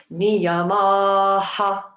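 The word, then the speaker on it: niyamaḥ: Niyamaha.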